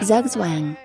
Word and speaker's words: Zugzwang: I think the best way to pronounce it is Zhuge Zhuang, Zhuge Zhuang. Zhuge Zhuang. but I'm gonna look it up. Zhuge Zhuang. It's Zhuge weird. Zhuang. Zugzwang.